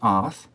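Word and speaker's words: את: the fourth word in, which is pronounced ath, and it's the aleph tav, the first and the last letters of the Hebrew alphabet, it is left untranslated.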